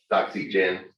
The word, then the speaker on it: Doxygen: oxygen but i think they're supposed to pronounce it like docs like document but uh doxygen it knows lots and